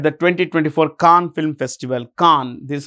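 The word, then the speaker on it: Cannes: Palm Dior at the 2024 KH Film Festival KH this is how it's pronounced KH okay it's place in France and it's a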